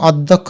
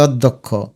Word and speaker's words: অধ্যক্ষ: নলে উচ্চারণ হবে অশিক্ষিত এটাকে আমরা অধ্যক্ষ বলি না বলে অধ্যক্ষ অর্থাৎ অকে একটু ওর মত উচ্চারণ করি এজন্য ও দিবে ধলা